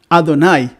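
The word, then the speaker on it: Adonai: cierto al señor mismo he dicho ado nay porque en hebreo no se pronuncia el tetra grama ton y away en sus cuatro letras o como diría la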